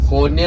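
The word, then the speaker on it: Konya: കോന്യ എന്ന് പറഞ്ഞ തുർക്കി ഉച്ചാരണമാണ്.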